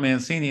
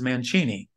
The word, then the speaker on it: Mancini: I was in Italy the Italian people there told me that I don't know how to pronounce my own last name it's not Mancini they said it's Mancini so for this uh Southern